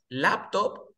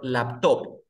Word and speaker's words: laptop: ¿Es laptop o laptop? ¿La sílaba tónica cuál es? ¿Lap o stop? Lap, La, lap. Muy bien.